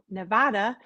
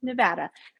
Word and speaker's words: Nevada: called saving Nevada I used to call it Nevada but I was corrected by a person who actually lived there and they said it's not pronounced Nevada it's pronounced Nevada so just that little tidbit of information for